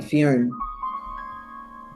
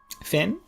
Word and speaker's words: Finn: that's from um like Fion. God am I pronouncing his name right? Finn. Oh Jesus. I don't know where Fion came from. Finn exactly. Yeah I think it's just Finn.